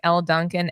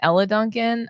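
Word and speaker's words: Elle Duncan: I know is that if you don't stop calling El Duncan Ella Duncan I'm gonna lose it and you don't I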